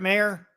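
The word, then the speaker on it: Maher: How do you pronounce his name? Brett Mayer? Yes.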